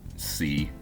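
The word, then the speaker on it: Qsy: uh that is pronounced C, but it is spelled QS Y.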